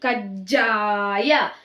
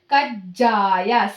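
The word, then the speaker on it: ಕಜ್ಜಾಯ: Ja under that ja consonant. Kajjaya. See, the consonants never changing. See here. All ja consonant only. Gunitakshara only changing. So you have to pronounce like Gunitakshara hardly. Kajjaya, like that.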